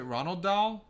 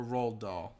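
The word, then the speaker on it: Roald: the new Ron um is it Ronald doll or R doll I always forget how to say his name I don't know Sam dolls like Charlie and chocol Factory now you've got me over thing do it's Ronald but without the end yeah R but I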